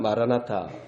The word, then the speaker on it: 마라나타: 그래서 이걸 좀 연음으로 발음하면 마라나타.